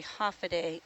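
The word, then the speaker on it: Håfa adai: It is actually half a day. H A F A D AI. And that is how you say hello in Chammoro from Guam and the Northern Marianas.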